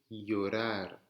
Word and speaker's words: llorar: Le double L se llama eye. Ça se prononce comme un Y. D'accord? Me llamo. C'est comme si vous aviez Y-A-M-O. Me llamo. Este verbo se dice llorar. Llorar. Comme si vous aviez un Y à la place du double L.